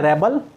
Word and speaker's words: rebel: जब आप एज a noun use करते हो REBEL, जिसको कहते हैं विद्रोही, तो इसका प्रोनाउंसिएशन होता है रेबल, और एज अ वर्ब